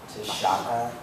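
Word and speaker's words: taška: bag, and it's pronounced tashaka. So that's like when you break it up, but when you pronounce it like all together, it's tashka.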